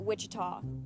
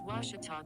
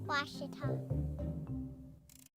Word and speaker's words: Ouachita: at a baptist university back in texas everybody pronounces it wichita but really it's ouachita washington washington how would you pronounce it it's washita baptist university get it right it's watertall people it's wachata washita as a student athlete in college i first